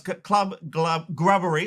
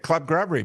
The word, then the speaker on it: Club Grubbery: Club Gub Grubbery. I knew I'd say it wrong. I knew it cuz I keep thinking club buggery. Yeah, that that now that's how we named it. Club Grubbery because people were saying